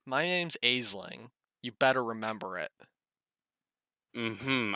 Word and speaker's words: Aisling: My name's Aisling.